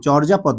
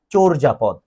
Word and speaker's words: চর্যাপদ: তোমরা এটাকে অনেকে ভুল উচ্চারণ করো, কিন্তু হ্যাঁ এইচএসসি তে উঠলে যখন উচ্চারণ পড়বা, দেখবা ছোটবেলা থেকে যেটাকে চর্যাপদ শিখে এসেছো, এটির উচ্চারণ কিন্তু চর্যাপদ নয়, চর্যাপদ।